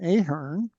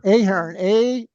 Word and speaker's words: Ahern: link to the YouTube that we're Brian Brian Ahern says name.